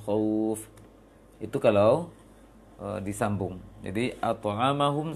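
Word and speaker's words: أطعمهم: At'amahum min.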